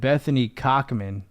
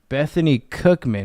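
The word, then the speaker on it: Bethune-Cookman: I almost said Bethany Cochman. Bethany Cookman. Where the is that anyway?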